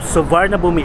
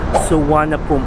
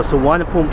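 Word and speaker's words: Suvarnabhumi: p nila nagiging B so instead of svar na Bomi airport here guys it should pronounce as sana poom airport so nagiging silent R tapos yung niya nagiging w and then yung B instead of boomi should be pronounced at Pom so suana Pom airport O di ba nakakatuwa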